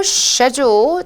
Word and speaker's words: schedule: 영국식 발음 schedule이라고 하지 않았고 schedule.